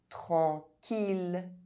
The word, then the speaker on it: tranquille: I double L is only pronounced E if preceded by a consonant and followed by a vowel, except in ville, mille, tranquille, lille.